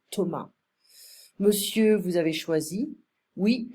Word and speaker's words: Thomas: So, le serveur Thomas, we don't pronounce the S, we don't say Thomas, we say Thomas.